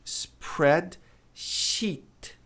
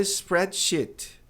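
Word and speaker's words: spreadsheet: Dê um sorrisinho e alongue esse som de i.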